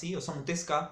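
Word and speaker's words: Osamu Tezuka: todos es el de osamu tesa osamu tesca si lo quieren pronunciar bien que es el creador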